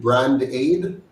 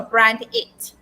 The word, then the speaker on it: Brand8: So I was just pronouncing it so that persons can hear the name So is properly. it brand aid? No, Brand8.